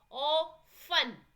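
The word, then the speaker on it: often: ओ फन, टी इसमें silent हो जाएगा तो एच और टी.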